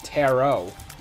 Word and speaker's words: tarot: That's what always trips me up, even though I know it's tarot. Why the T's silent?